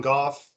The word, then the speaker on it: Goff: my name is goff uh that last name is pronounced like cough like with the g uh for those y'all